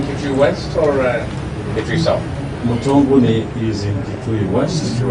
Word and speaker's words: Mutonguni: Mutonguni is in Kitui West.